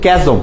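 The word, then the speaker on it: chasm: খুব উচ্চারণটা ভুল করে, এটা কিন্তু ক্যাজম, চ্যাজম না ক্যাজম, দ্য ডিভাইড আছে, দেখো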